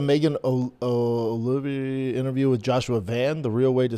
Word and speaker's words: Van: Gamma girl, did you see the Megan Olivia interview with Joshua Van? The real way to say his name is Vaughn. I know. Like Theo Von had no idea Theo Vaughn has a brother and it is Joshua Vaughn.